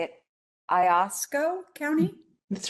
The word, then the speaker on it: Iosco: I've also got a great person in, I don't know how to say it, Iosco County.